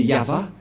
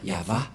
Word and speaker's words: Yahvah: du grand-père Moché ne pêch point le nom prononcé par le grand-père Abraham c'est yava et le nom initial de ce Dieu c'est ya voilà c'est pourquoi le nom du dieu d'Abraham c'est ya yava et ceux qui ont prononcé ce nom sont